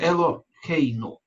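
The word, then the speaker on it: אֱלֹהֵינוּ: И здесь, в слове элохейну, мы видим вот эту вот букву юд, которая не произносится или почти не произносится.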